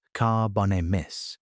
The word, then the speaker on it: Carbonemys: There was Carbonemys, pronounced Carbonemys, a turtle with a shell more than 5 ft across, and jaws strong enough to crack the bones of small crocodiles.